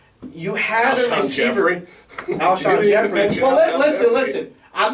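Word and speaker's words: Jeffery: I'm happy that we say Jeffrey, because even the analysts go Jeffries. Yeah, no S on the end there. I always say Alshon Jeffrey, and I pronounce names wrong all the time.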